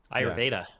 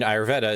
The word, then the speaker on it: Ayurveda: You know about the how do you pronounce Ayurveda or whatever? Ayurveda.